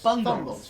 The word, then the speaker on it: Bungles: Bungles. Bungles. Bungles. Bumbles. Bumbles. Bungles. Bungles. Like bugles, but with an N.